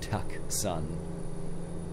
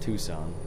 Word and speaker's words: Tucson: that way at all the C is silent I don't know maybe don't know maybe it's a I'm not sure at all actually I'm gonna wager a guess I'm assuming it's not pronounced at Tucket son and it's pronounced Tucson makes me think of